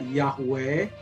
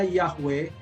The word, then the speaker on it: Yahweh: ia Hai akan tetapi mereka tidak pernah membacanya yahwe Karena itu adalah nama yang agung Nama yang mulia mereka baca itu dengan adonai yang artinya Tuhanku adonai kalau ada didalam Alkitab